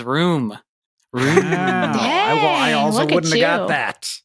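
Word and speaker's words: rheum: how to say it room r h e u m I also don't know how to say it but it is room I wouldn't have got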